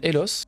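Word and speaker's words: Eloth: Pour le coup, ça s'appelle Elos. Ça s'écrit E-L-O-T-H.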